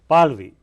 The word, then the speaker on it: Pahlavi: How do you say? Pahlavi. Pahlavi. Yeah, Pahlavi.